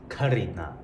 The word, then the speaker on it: खरीदना: A lot of times when I talk to Indian people, they don't actually pronounce it this way. They'll just pronounce this as the aspirated K. So it would be खरीदना. You can say it either way.